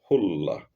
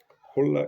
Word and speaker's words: Khula: A divorce of this kind is called hulla. Hulla spelled KH and is spelled in italics. It's written in as italics. Hulla is spelled Khula. Hulla.